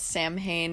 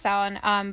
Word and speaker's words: Samhain: Yeah, some people call it Samhain if they've never heard anyone else say it before. That's just kind of how it reads in any book. Exactly. But it is pronounced Samhain.